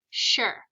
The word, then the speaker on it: sure: So you might think that this word would be pronounced as s-u-er, but it's actually pronounced like sh-er. Sure.